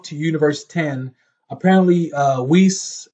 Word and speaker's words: Whis: Universe 10 apparently uh whis or um wise how you want to pronounce his name I just say whis whis uh actually found